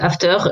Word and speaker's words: After: Moi, je dis juste After. Éventuellement, je double légèrement le R, mais généralement je dis After, je m'embête pas.